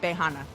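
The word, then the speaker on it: Beiyinhe: harbin in the middle in the village of bejana and that's spelled b-e-i-y-i-n-h-e but it's pronounced bahana um the entire 300 home village was leveled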